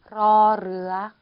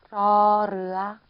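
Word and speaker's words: ร เรือ: R 발음으로 해주시면 돼요. 러르아, 러르아. 36번.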